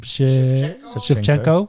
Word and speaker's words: Shevchenko: Shevchenko.